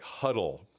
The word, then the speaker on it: Hudl: Then we started to integrate some apps like Huddle. So the coaches down below, it's spelled HUDL.